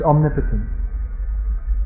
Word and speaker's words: omnipotent: present everywhere and omnicient omnipresent and omnipotent it's pronounced omnipotent all powerful yeah so we also pray to